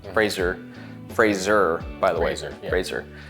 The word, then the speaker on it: Fraser: Fraser. Rhymes with laser, blazer.